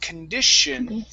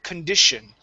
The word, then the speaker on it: condition: we say the word condition condition there you go that's it okay it's an sh sound instead of an S an S is incorrect it's sh one more time condition condition good nice job